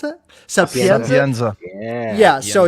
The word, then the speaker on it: Sapienza: How do you pronounce it? Sapienza.